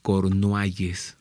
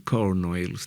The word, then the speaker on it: Cornualles: se llama Sandy pirán pirán de cornualles así se pronuncia Aunque alguien quiere decir cornoelos no es por no